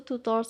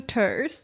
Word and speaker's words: tutors: So, Riska said tours. Jadi, T-nya itu very eh ini O-nya dibacanya e ya. To tut ya. Jadi bukan o. I kalau aku ngomongnya tutors. Tutors.